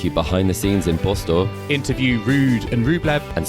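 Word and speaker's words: Båstad: Well, you already have, Joel, with that because it is Bastad. It's not Bastad, it's not Gastad, it's none of those, Joel.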